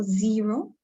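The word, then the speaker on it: Xero: you make a payment there is also zero which is spelled with a x and um there's another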